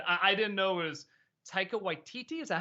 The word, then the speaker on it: Taika Waititi: It already looked interesting, but then I didn't know it was Taika Waititi.